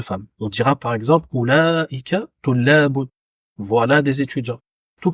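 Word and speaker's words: أولئك: Entre le lam et la hamza, il y a une prolongation à faire à l'oral.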